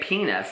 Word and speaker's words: penis: for it is penis although it's spelled penis you say penis like peanuts without the tea peanuts without the tea